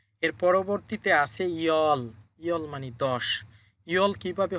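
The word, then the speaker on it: 열: You'll কিভাবে হলো দেখেন, উপরে আছে ইয়ুং, ইয়ুং উপরে বসলে বাদ যাবে, তাহলে এটার সাথে আছে ইয়, ইয়, লিখলাম ইয়। এরপর নিচে আছে রিউল, রিউল। এই রিউল নিচে বসার কারণে শেষের বর্ণ উচ্চারণ হবে ল, তাহলে লিখলাম ল, ইয়ল। ইয়ল হচ্ছে 10।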